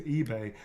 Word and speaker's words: eBay: Little e, big, yeah, and just put it, and the B is not silent. It's eBay. This is for eBay.